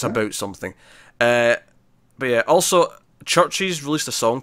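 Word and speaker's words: CHVRCHES: It's pronounced Churches, I believe.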